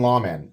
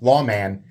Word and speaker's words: Lawman: American says it huh if you're going to pronounce the Taiwanese made American Lawman correctly you say Lawman all right I'm not